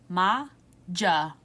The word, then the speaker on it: Majapahit: like 10,000 years to figure out how to pronounce this. Majapahit.